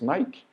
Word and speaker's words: Nike: de artigos esportivos né como a gente pronuncia mesmo night não é assim que falamos em português Nike em inglês seria na esquina aqui é uma certa ênfase né ali no final é o mesmo vitória